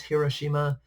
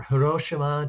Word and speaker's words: Hiroshima: Japan first one is Hiroshima or her Oshima depending on how you pronounce it depending on where the emphasis is I usually just go with Hiroshima and the other one